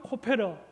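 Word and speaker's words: כֹּפֶר: 그리고 역청은 코페르, 그리고 칠하다는 카파르입니다. 이 발음만 사용해서 문장을 작성해 보면 이렇습니다.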